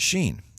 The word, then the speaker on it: shin: on the right and Shane is pronounced like the SH sound like in Shin so seen in sin